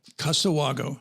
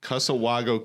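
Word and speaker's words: Cussewago: correct me one one more time on the pronunciation kusawago casawago casawago Creek Distillery Casa Wago Creek Distillery in the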